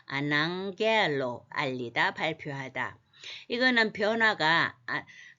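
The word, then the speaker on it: ἀναγγέλλω: 감마가 이렇게 겹치면 앞에 게 응 소리가 나서 그렇습니다. 아낭겔로 알리다 발표하다.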